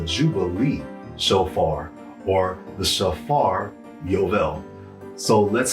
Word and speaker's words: Yovel: It's called the Jubilee shofar, or the Shofar Eual. So let's spell that last word out, Eual. Y-O-V-E-L, Eual.